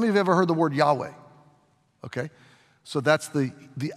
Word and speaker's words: Yahweh: how many of you ever heard the word Yahweh okay so that's the the accurate Hebrew pronunciation of it Jehovah is sort of the